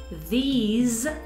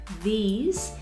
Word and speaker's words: these: singular, y también la pronunciación de this con S, that, these con Z, es un sonido como una Z, these, y those, también sonido Z.